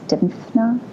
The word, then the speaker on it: Dymphna: And the other project I'm working on is I always mispronounce her name. I have the saint's card of Saint, I guess it's Dymphna.